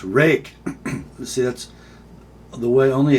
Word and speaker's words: Ruike: Next up, my buddy Pastor Kevin Cleary taught me how to say this brand name. It's Ruike.